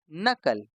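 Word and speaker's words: knuckle: ये नज नॉलेज के एन यू सी के एल ई नकल तो हम क्या पढ़ते हैं नकल अच्छा मुझे दो शब्द और ध्यान में आते हैं।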